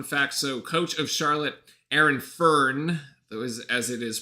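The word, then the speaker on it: Aaron Fearne: So coach of Charlotte, Aaron Fern, as it is pronounced, used to be the head coach of the Cairns Taipans.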